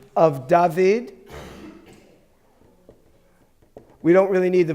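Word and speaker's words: דָּוִד: Carlton what's underneath you safe yeah okay it's pronounced is it duh yes yes yes vid dahveed okay da vid is the name David okay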